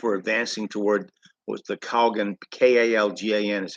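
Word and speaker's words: Kalgan: um when nationalists were advancing toward was the Coggin k-a-l-g-a-n is how it's pronounced past through which the Reds were moving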